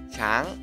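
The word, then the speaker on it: ช้าง: Dibaca jadi apa? Siang tri, karena shoshang ini kelas rendah ya. Dibacanya chang, chang, ya kan? Shoshang ini chang ya, ya kan?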